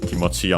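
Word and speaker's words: 気持ち: certainly should be also consider that kimoti on its own is unacented.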